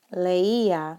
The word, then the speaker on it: leía: Leía is how we pronounce it.